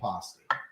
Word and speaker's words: pasty: I don't mind being disheveled, but this is a little Your bit pronunciation depends on where you're from. So I guess when we were up in Michigan, they definitely were saying pasty.